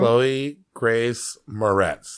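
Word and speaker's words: Chloë Grace Moretz: Chloe Grace Moretz.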